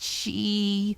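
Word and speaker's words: sídhe: I know about the Púca, pronounced Púca, and the Cedar, pronounced she, and all the rules about iron and salt and rowan berries.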